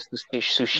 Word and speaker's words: Tsushima: Yeah, I also ordered with it Ghost of Tsushima. I think I'm pronouncing that right. Oh. Yeah, Ghost of Tsushima.